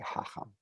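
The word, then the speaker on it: חָכָם: Fez, we'll still say Chacham. And stress on the second syllable, even though this one does have a double vowel. Double kamatz usually does not give me stress on the first syllable.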